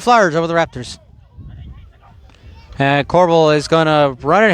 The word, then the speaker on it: Corbal: And I'm saying Corbel, folks, because the last name is spelled C-O-R-B-A-L. There's no second L, so I won't call him Corball.